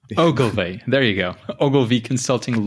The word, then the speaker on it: Ogilvy: There's actually a video on YouTube that helps people pronounce Ogilvy. So it's Ogilvy. Ogilvy.